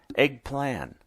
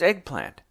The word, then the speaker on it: eggplant: great big toothy grins eggplant my mom said except she pronounced it eggplant the woman frowned a little you know it's eggplant said the woman after my mom put the camera down what eggplant the woman said emphasizing the tea so vigorously she was